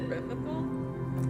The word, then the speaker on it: Revachol: He pronounces Revachol with a hard K, unlike other people. Serious question time. This man is no innocent. No one is. You said Revachol? I like to pronounce it the hard way. The old way. The Vespertine way.